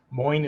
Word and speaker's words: Moin: Moin is like coin with an M, and like psychology educator.